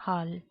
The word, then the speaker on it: halv: And at 3:40, it is t over halv 4. The v here is silent.